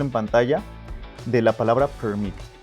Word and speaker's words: permit: Ve el ejemplo en pantalla de la palabra permit. Primero, en el stress en la primera sílaba suena así, permit, y con el estrés en la segunda sílaba suena así, permit.